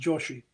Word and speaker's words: Joshi: Joshi is a Brahmin name, and the Sanskrit spelling is Yasha with a Y, but it's pronounced Joshi.